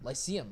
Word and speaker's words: Lyceum: Lyceum. Yeah. Yeah. That's how it's Yeah, yeah, pronounced.